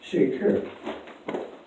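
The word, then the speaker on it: שקר: And it's pronounced sheker.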